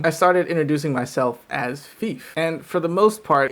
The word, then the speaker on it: Fif: common for english speakers i mean you ever heard of fifa is there anybody who speaks english that can't pronounce that word so if i tell you my name is thief then that's probably how you should refer to me now i would get